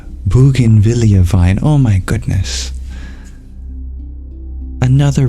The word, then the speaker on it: bougainvillea: He pointed to a sturdy clay pot with its bougainvillea vine.